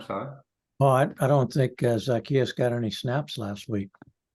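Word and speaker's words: Zaccheaus: I like even though I said his name wrong zarchias Zacchaeus but I remember him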